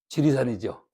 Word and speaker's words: 지리산: 요게 다를 이자거든. 그죠? 요 다를 이자는 리로 발음이 안 됩니다. 이야, 이 그냥. 근데 얘 이거 할 때만 지리산 그래. 어? 지이산인데 요게 리라는 발음이 아예 없다니까. 근데 우리는 이것을 언제적부턴가 지리산으로 불렀어. 그냥 지리산이야. 어? 이상해도 할 수 없어. 그렇게 굳어버리면 그렇게 읽는 거지 뭐. 그렇죠? 언어는 관습이기 때문에 그냥 따라가는 겁니다. 사실은 발음이 틀린 거다.